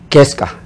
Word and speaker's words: KESCA: Spell it for me, Kes? Keska.